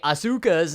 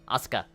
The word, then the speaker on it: Asuka: When it comes to more Western people, they tend to put a lot of emphasis on the middle syllable rather than the Japanese way where it doesn't technically have any kind of like accentuation. They just kind of say it all, you know, monotone. Asuka. They'll say it in the